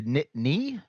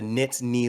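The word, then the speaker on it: Nittany: so it's not the nitty Lions it's the NIT knee yes there's that n that n is definitely pronounced the knit knee Lions okay cuz like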